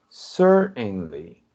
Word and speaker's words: certainly: the agent says certainly right listen to the pronunciation certainly you pronounce it like that it's like the